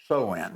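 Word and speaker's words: Samhain: It was called uh Soin. It's actually spelled s a m h a i n but it's pronounced soen.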